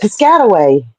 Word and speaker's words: Piscataway: I don't know how you say it, but it looks like you say it Piscataway. You got it. Piscataway.